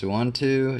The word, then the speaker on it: Suunto: It's a, I believe that's pronounced suunto.